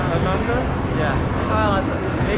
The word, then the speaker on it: Atlanta: And it's cool that I'm not only when I say Atlanta. Atlanta? Yeah. Well, they call it Atlanta. We don't pronounce the T's.